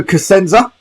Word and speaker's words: Cusenza: because the first challenge is going to be pronounced in your last name but we'll have a go leo casenza that's perfect there we go uh he's joining